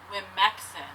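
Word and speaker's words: Womxn: Google doesn't know, so I've decided to pronounce it like this. Wimexin.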